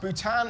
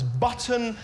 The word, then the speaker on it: Bhutan: can barely understand Earth Donald Trump mispronounced Bhutan and Nepal as button and nipple in a White House